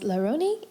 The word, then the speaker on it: RONY: Today we have, also known as RONY, and that's how you pronounce it, right?